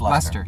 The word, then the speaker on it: Leicester: I get you, but for I never pronounce that right. Is that right? Leicester. Leicester. It's Leicester.